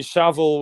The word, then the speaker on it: Savile: And Jimmy Savile was um a lot of Americans and Canadians call him Jimmy Seville because that's how we pronounce it, but uh it's it's